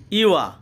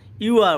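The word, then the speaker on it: ewer: ইউয়া, ইউয়া অর্থ কলস বা বদনা, ইউয়া অর্থ কলস বা বদনা। এখানে দেখেন ওয়ার্ডের লাস্টে আর আছে, তাই আরের উচ্চারণটা আমরা করিনি।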